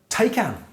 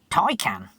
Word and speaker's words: Taycan: elocution lessons to anyone who says the word take out i think you'll find it's pronounced tai can you could always argue that it's spelt t